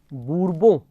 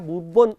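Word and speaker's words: Bourbon: France में Henry बूरबो आया, नाम था हेनरी बूरबो, खाली बूरबो लिखा होगा या बूरबोन इसका उच्चारण है।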